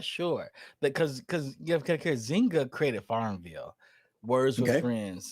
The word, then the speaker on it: Zynga: Is it pronounced Zynga? Is that how you pronounce it? Zynga? Zynga.